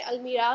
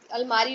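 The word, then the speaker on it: almirah: हमने अलमीरा को अपने हिंदी टंग के लिए, अपने हिंदी टंग के हिसाब से हमने उसका नाम अलमारी रख दिया है। सो its actual pronunciation is अलमीरा।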